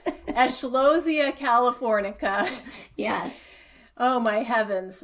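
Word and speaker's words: Eschscholzia californica: It's Eschlosia californica. Yes. Oh my heavens! Like I wouldn't want to have to spell that in the spelling bee.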